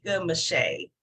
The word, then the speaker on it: Meschet: And I wanted to say it is actually pronounced Meschet.